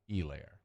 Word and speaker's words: Helaire: I just stay silent like the H in Helaire.